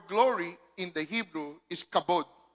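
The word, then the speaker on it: כָּבוֹד: the word for glory in the hebrew is kabod right it's pronounced as kabode there you go right kabod yeah but is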